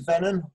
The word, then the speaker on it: Venon: Venon, V-E-N-O-N. Venon. Wait, Tom Hardy. That's gonna be my man crush.